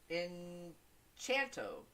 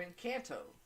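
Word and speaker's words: Encanto: Belle's headstrong character okay in chanto or incanto however you want to pronounce it I think it's in can't though murel is the very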